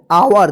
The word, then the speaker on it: our: BOY, बॉय, OUR, आवर, देखिए यहां पे ओ और यू एक साथ लिखा रहता है तो आ उच्चारण होगा, ठीक है ना, आओ उच्चारण होगा, आओ, आवर, ठीक है।